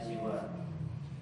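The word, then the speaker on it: سِوى: keduanya adalah giriru dan siwa. dengan ee bahasa dengan ee maka sesungguhnya ee ketika dikatakan siwat ee kecuali yuqhawid. Jadi si wa itu dibacanya dikasrahkan seper huruf sininnya seperti wazan ridon ridan seperti hudan samaun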